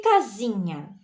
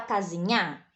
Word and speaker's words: casinha: Você fala casinhar? Se a gente entender, né? Se fosse casinhar a pronúncia daquela construção que nos protege, né? Se fosse casinhar, seria uma oxítona. Mas olha como é a pronúncia. Casinha. É aqui a tônica. É na penúltima. Então, aqui é uma paroxítona, tá bem?